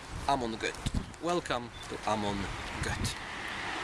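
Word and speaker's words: Göth: So Amon Gur? Amon Gut. Welcome to Amon Gut. How do you say his last name? Gut.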